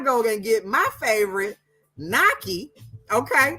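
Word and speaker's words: gnocchi: think it's g-n-o-c-c-h-i it's it's called Nike but it starts with a g okay then there's the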